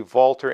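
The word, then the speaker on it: Walther: people really like the vaulter and I'm going to try to use the proper German pronunciation throughout this video the vaulter actions are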